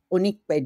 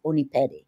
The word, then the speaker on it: Opinede: identity Great I Am my full name is uniped uniped if I was saying it like in Nigerian if I'm saying it for Americans uniped my pronounce a she